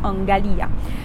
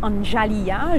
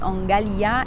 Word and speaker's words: Angalia: Alors, il y a des gens qui disent Anjalia. Je ne sais pas si quand ils parlent français, ils disent garage ou gâteau. Mais pour le coup, ça se prononce exactement comme les mots garage et gâteau. Donc, c'est Angalia et pas comme le prénom Angela.